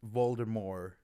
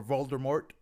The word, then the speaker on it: Voldemort: years um everybody called voldemort voldemort and then she came out and said the t is silent or voldemort and then she came